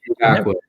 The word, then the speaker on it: Ngakoue: They can play Danielle Hunter and how do you pronounce that name? Ngakoue? Ngakoue.